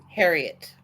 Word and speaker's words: Herriott: How do you pronounce your last name? Herriott. Thank you. As in the famous author.